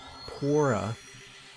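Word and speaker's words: Purah: was that up here talk to Pora that's how you pronounce her name even though it's a u instead of an O they'll probably give us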